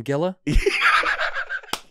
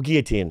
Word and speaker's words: guillotine: Oh, they call them gilla? A guillotine? Yeah. We make Gia. Yeah. Oh, guillotine.